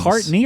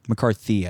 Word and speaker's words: McCarthy: McCartney or McCarthy? McCarthy, I think. Okay, McCarthy. There we go. Yeah, I said it wrong.